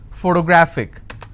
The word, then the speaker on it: photographic: i have another word photographic somebody has a photographic memory so what are the syllable break it's for toe and since it's ending with ic i will stress on grab so whatever is the